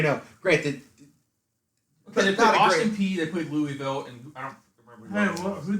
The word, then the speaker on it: Louisville: gotta do this show i don't know how louisville was ranked though how was lulu you just